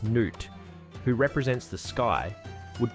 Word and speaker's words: Nut: They believe that the goddess Nut, pronounced Nut, who represents the sky, would periodically swallow the sun god Ra, pronounced Ra.